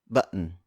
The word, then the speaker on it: button: For instance, the word button. Button. The two T's are unpronounced, and instead, you hear that really quick pause before letting out that sound. Again, that's button.